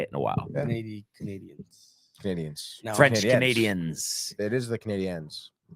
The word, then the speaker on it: Canadiens: How do you say Canadiens? Canadians. Exactly. That's what I've always said. Tony was always big on the Canadiens. And yes, that's the way you say it.